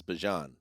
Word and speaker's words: Bijan: pronounce this the s-i how you pronounce my name is Bajan like that's how you say my name he said I actually told Fox 5 in Atlanta but I say Bijan hmm so we're not